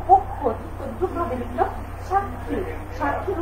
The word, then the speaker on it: সাক্ষী: এখানে দেখো 5 নম্বর নিয়মটা যে লিখলাম, যে শব্দের মাঝে বা শেষে, শব্দের মাঝখানে হতে পারে বা শেষে হতে পারে, উভয়ের উচ্চারণ ক খ হয়ে থাকে, কয়েকটা খ হয়ে থাকে।